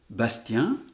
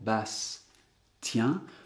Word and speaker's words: Bastien: Alors que si je segmente correctement, Bastien, j'entends à la fois bien le S, le son S que je peux faire un petit peu durer, et le T qui commence la 2e syllabe.